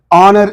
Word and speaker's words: honor: that and here next honor is there in this also H silent and we are pronouncing the word from o o is giving a wov sound okay I did not